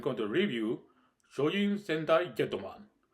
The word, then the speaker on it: Jetman: Hello, Brian the Fanboy here, and today I'm going to review Choujin Sentai Jettoman. Well, actually, it's written as Choujin Sentai Jetman, but I'm going to say the way it's pronounced.